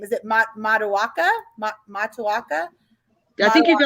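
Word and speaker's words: Matoaka: out with her i don't remember how to pronounce her name is it ma mata waka ma matawaka i think you're good right yeah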